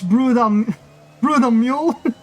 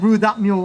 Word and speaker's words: Brew the Mule: It's Brew the Mule. Okay, I said Brew That Mule. Okay, I'm sorry. It's Brew the Mule. Okay, I'm sorry, 13. I completely mispronounced that.